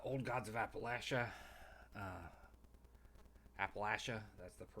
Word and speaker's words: Appalachia: uh ttrpg um old gods of Appalachia uh Appalachia that's the correct pronunciation because they say it's pronounced like apple